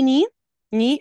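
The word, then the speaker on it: knee: سلمى كنت بنتكلم على الكي في الاول الكلام خاصه لما بيجي وراه حرف الان كده بيبقى سايلنت ما بننطق زي ني ني اللي هي الركبه فانا اول حرف بنطقه اللي هو الان وكذلك لما بنطق بقول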